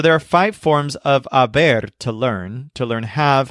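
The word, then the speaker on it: haber: pronouncing this word as Aber almost like a bear that's because the letter H is always silent in Spanish so let's learn this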